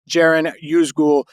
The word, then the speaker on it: Ceren Yüzgül: And I did some looking on ChatGPT, and I learned that the C in Turkish is pronounced like a J. So it is Ceren Yüzgül.